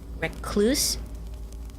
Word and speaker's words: recluse: It's I so I've always said recluse but I know that some people say recluse it just I mean the emphasis on the second so it's rec re recluse this the same with